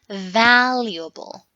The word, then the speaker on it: valuable: We will say valuable. Oh, I'm the worst. No, you are not. We are practicing. Don't worry. Let's repeat it together. It's like this. Valuable. 4 syllables, okay?